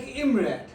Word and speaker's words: IMRaD: It is an acronym and it's pronounced like IMRAD used to describe the standardized structure of a scientific research papers.